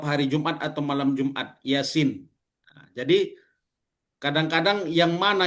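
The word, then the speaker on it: يس: panjang, yang mana yang kalau Yasin ini yang panjang yang mananya, ya-nya atau sinnya? Atau dua-duanya sama panjang ya Bapak Ibu ya? Sinnya. Yang baca Yasin atau terbalik. Yasin sama-sama panjang.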